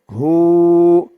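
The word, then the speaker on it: هُوَ: যদি আমরা থামি তাহলে এই ওয়াও এর উপরে যে জবর আছে এই জবরটা সাকিন হয়ে যাবে থামার কারণে উচ্চারণটা হবে হু হু ওয়াও এর উপর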